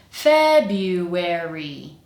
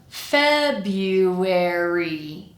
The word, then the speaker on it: February: Starting with the rhythm, we have the same rhythm as January. So, we have this duh kind of rhythm. February. And now looking at the individual syllables in the first syllable, our strong syllable, we have feb f-b f. That's our first syllable and the strongest syllable. And all the rest of the syllables are exactly the same as in January.